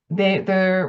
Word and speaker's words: OHDSI: ROBIN: So OMOP and OHDSI (pronounced "Odyssey"), we're talking about data models now and not just and not CDEs.